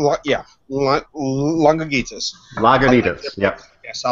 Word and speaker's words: Lagunitas: like Zenith along what ya want longer Jesus lagunitas yep yes I like their pick stuff their